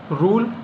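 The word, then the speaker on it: rule: जैसे कि रूल नियम तो रूल एल के बाद इ आ गया है तो अंतिम में इ आया है तो इसका कोई उच्चारण नहीं है और यू आया है ये आपका वोवेल है पूर्ववर्ती स्वर में तो ये आपका बड़ा ऊ या यू ऐसा ये ध्वनि देगा रूल यानी नियम जून ये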